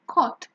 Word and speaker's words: caught: And in this case, in caught, for example, the GH is silent. You don't pronounce the GH in any of these words. And you actually have three sounds. In caught, you have the sound K, the sound O, the long O, and the sound T.